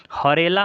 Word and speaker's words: हरेला: देखिएगा हरेला और हरेली इन दोनों में बच्चों को काफ़ी कन्फ्यूजन होता है। तो हरेला में आपका आ का उच्चारण है हरेला और उत्तराखंड में भी उत्तरा।